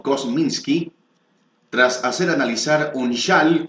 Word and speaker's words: Kosminski: El autor del libro, que publica el próximo martes la editorial Smith Jackson, ha establecido la autoría de Kominski, o bien pronunciado como Kosminski, tras hacer analizar un